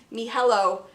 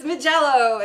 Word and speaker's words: Mijello: how um amy is me hello is how she pronounces that is that correct mijello i thought that was okay so amy likes to pronounces me hello but it's mijello it's the airtight uh